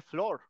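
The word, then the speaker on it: floor: profe Por qué no si es doble o se pronuncia como porque es la excepción a la regla canijos este que se debería pronunciar flur se pronuncia flor háganme el bendito favor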